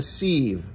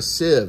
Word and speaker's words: sieve: all right corn is sifted in a sieve or a sieve a sieve I think is how you pronounce it a combine tractor